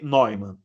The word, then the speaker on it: Neumann: Se escreve Neumann, né? Neumann, mas se lê Neumann.